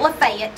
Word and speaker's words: Lafayette: It ain't Lafayette.